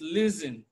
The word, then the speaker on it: listen: just as you have in listen it's not listening it's listen so T is silent in